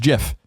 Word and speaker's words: GIF: are wrong it is a soft G pronounced GIF end of story end quote you hear that they are wrong he's saying we the people of America are wrong it is a soft JY pronounced GIF sir why did you not name it gif like the peanut butter then end of story